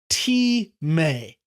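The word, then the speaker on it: τιμή: It's pronounced Timē, Timē, Timē. And it's often spelled in the transliterated version like time, T-I-M-E with the mark over it, but it's Timē, Timē. Usually the emphasis is on the may, so it's Timē, Timē.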